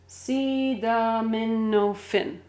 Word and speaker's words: acetaminophen: This is with a T, so it's ta. But we in the United States say da, da. Daminophen. Daminophen. Daminophen. Daminophen. C. Acetaminophen. Acetaminophen. You can try and repeat that. Acetaminophen. Acetaminophen. That's 5 syllables.